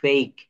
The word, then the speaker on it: fake: শব্দের শেষে ই থাকলে ই এর উচ্চারণ হয় না। যেমন NAME, নেইম, নেইম, COME, খাম, TAKE, টেক, FAKE, ফেক।